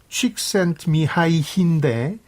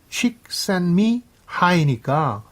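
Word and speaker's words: Csikszentmihalyi: 본인이 원하는 이름 발음이 칙센트미하이인데 이걸 영어 단어로 좀 분절해서 따져보면 멋진 것이 나를 더 높이 고양시킨다. Chick send me high니까 뭔가 그 이 사람이 가진 몰입이란 개념이나 책하고 잘 맞아떨어지잖아요.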